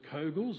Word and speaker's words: Kogel: Now, not being born and bred in Ballarat, I'm not sure how to pronounce this one. Is it Kogels or Coghills?